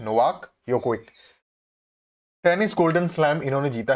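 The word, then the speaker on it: Djokovic: यह बात करते हैं नोवाक यो कोविक ठीक है यूरोपियन कंट्रीज जो होती है वहां पर जे साइलेंट होता है ठीक है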